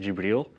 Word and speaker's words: Jibril: So when he received his revelation from the angel Gabriel, also a character in the Bible, in Arabic it would be pronounced Jibril.